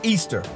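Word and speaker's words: Ishtar: simaris became known as ishar pronounced Easter referred to as asteroth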